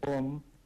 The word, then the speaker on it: Rom: Eh, el nombre real es el pueblo se pronuncia así, Om, pero se escribe ron con r porque la r es gutural.